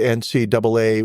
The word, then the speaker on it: NCAA: International recognition 1982 the NCAA women's basketball championship and I'm from North Carolina enough to know that when I see two A's together it's pronounced double A and not AA so the NCAA no